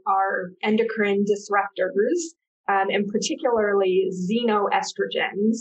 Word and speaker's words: xenoestrogens: Yeah, so many chemicals in our environment are endocrine disruptors, and particularly xenoestrogens. It starts with an X, but pronounced xenoestrogens, which mimic the action